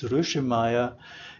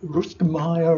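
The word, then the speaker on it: Rueschemeyer: I can pronounce it the German way, then it's Ruschemeyer. If I pronounce it in American way, it's, I think, Ruschemeyer or something.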